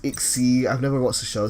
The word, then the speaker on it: XYZ: It's pronounced XZ.